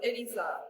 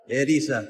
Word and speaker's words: Erisa: Arisa hering so you pronounce the r as an L so it's edisa edisa yeah edisa San but